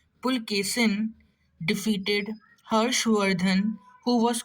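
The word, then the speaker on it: Pulakeshin: In the 7th century, the Chalukya king Pulkesin, it's not Pulkesin, remember that, H is silent. Pulkesin defeated Harshvardhan, who was called the Lord of the whole of North India.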